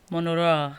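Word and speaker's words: Mon Roi: Even the way saying why your mouth is moving in a certain direction is Monroy. Monora. But it's spelled M-O-N and then space R-O-I.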